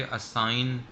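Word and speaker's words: assign: इसी तरीके से असाइन, किसी किसी शख्स को कोई काम सौंपना, असाइन करना, उसे हम कहते हैं दैट इज़, यहाँ भी जी साइलेंट करेंगे जब भी जी और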